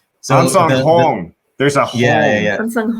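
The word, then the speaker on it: Ahnsahnghong: It's Ansang Hong. So Ansang Hong. There's a Hong. Yeah. Ansang Hong. Okay. Ansang Hong. But it's almost a double O.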